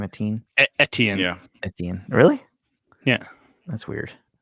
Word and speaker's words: Etienne: uh selected an early running back uh travis sateen is how you say his name a teen etienne yeah really yeah that's weird is it canadian